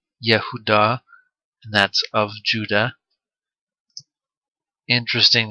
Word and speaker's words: Judah: is a girl daughter the pronunciation is like yahudah and that's of judah